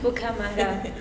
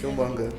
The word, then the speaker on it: Killmonger: Bukamanga, how do you pronounce it? Killmonger.